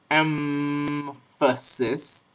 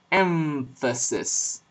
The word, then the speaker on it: emphasis: You don't say emphasis, but emphasis. You pronounce the M labiodentally with your bottom lip against your top teeth, and then you pronounce the F.